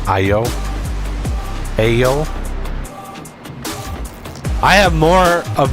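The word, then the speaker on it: Aiyo: A I Y O. I think that's how you pronounce it. IO.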